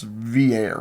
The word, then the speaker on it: Villere: I'm not Pretty sure it's Villere. Villere, like the sparkling water. Like Pierre. Pierre.